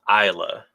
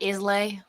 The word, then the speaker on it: Islay: It's pronounced Isla. Isla. So not Islay. Not Islay.